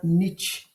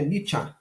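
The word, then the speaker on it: Nietzsche: terceiro volume volume TRS do luminismo francês a niet tá pronúncia correta de niet é nich né Alemão então a vamos lá dessa dessa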